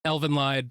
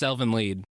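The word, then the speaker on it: Elfen Lied: to be a series covered in the podcast Elvin lied easy easy Elvin lied I would say School judgment yeah that's fair I don't care that it's pronounced Elvin lead I was about to say I don't respect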